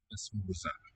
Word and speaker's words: esmorzar: Esmorzar. And the O written there in the middle syllable. It's a higher sounding oo. So the vowel has raised.